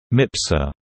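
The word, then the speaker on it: MPSR: the multi-purpose support room MPs are pronounced mipzor backroom flight controllers are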